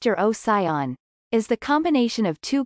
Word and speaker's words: Urocyon: The genus name Eurocyon, pronounced Eurocyon, is the combination of two Greek words that roughly translate into tailed dog.